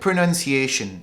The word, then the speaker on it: pronunciation: 発音の発音、間違ってる人が多いです。Now, as I said, the correct way to say is pronunciation. But a lot of people say pronunciation. Pronunciation. They're getting the words mixed up because there are two words.